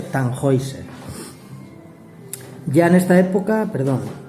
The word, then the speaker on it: Tannhäuser: se estrena en 1845 en español la gente le llama tannhäuser y los viejos de mi banda le llaman el tannhäuser pero bueno se dice tan hoi sera ya en esta época